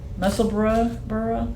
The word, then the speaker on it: Musselburgh: And um Yeah, so the Musselburgh hat or Musselburgh Musselburgh burra? Is it supposed to be like Edinburgh? It's spelled like Edinburgh. Yes, I would say Musselburgh.